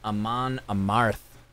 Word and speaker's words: Amon Amarth: For fans of, and these are some pretty heavy bands, Manowar, Mastodon, Amon Amarth. That's how you pronounce it.